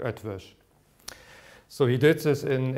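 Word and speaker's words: Eötvös: the easiest mute and pronounce this like a German SCH so the pronunciation is something like a Jewish so he did this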